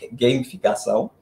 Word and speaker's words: gamificação: Que vem de games, então é gamificação, a pronúncia.